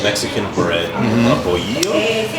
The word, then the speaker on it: bolillo: So Joel's having a mollete, which is basically a piece of it's like Mexican bread, a bolillo.